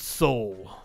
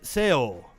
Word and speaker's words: Seoul: tune in for that so the Koreans pronounce it soul and your Vietnamese X pronounced it sale oh no I